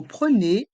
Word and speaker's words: prenez: Et dans le mot prenez, les lettres E et Z font le son E.